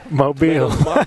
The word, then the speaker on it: Mobile: Mobile. Mobile, yeah, that is the correct way to say it.